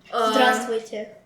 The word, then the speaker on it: здравствуйте: Здравствуйте.